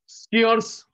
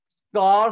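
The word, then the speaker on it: scarce: limited स्केयर्स, कार से नहीं बोलते, कार कट का निशान होता है, प्रोनाउंसिएशन ठीक रखना, स्कार से नहीं बोलते, स्कार कट का निशान होता है, स्केयर्स, लिमिटेड स्केयर्स, इनफाइनाइट का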